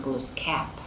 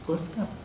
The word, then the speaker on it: Gluskab: Our legends, when we talk about Gluskab, you know, and it's pronounced Gluskap, and I'd say, no, it's Gluskab.